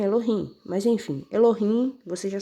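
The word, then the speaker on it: אלהים: eles chamam mem né E aí eles pronunciam assim Elohim Mas enfim el Você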